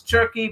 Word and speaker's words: Cerchi: He's Max Turkey, but it's CERCHI, so you make sure you spell it correctly.